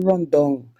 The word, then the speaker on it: rundown: making a traditional dish it's called mackerel rondon but it is spelled one down and it's actually seasoned